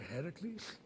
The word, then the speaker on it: Heracles: than that that thing with your voice the heracles yeah that that is how it's supposed to be pronounced seems like a lot of work but